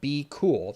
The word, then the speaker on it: BQool: well that repricer is called be cool now it's spelled BQ if you're interested in looking